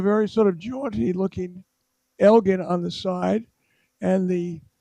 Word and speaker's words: Elgin: I mean, is uh Lord Elka Elgin, it's Elgin uh pronounced savior or vandal?